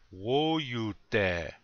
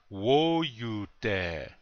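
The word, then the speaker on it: wóyute: dead this means food repeat after me please whoa you dare one more time whoa you dare very good you hear that the accents on the first syllable whoa you dare like that okay next word oh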